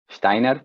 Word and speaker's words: Steiner: Permítanme a mí decir Steiner, porque era un alemán y se pronuncia más o menos así.